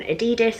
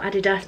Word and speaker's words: Adidas: So I'm going to start with the bag that I'm taking, and this is an Adidas or Adidas, depending on how you say it, Hodel.